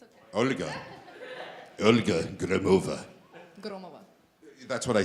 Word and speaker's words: Gromova: Olga Gromova.